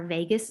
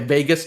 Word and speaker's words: vagus: The vagus nerve. the vagus nerve, yeah. Okay, It's I not won't forget that. spelled like Las Vegas. It's spelled Vagus, but vagus nerve.